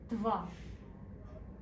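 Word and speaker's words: два: Next we have 2, or Dva.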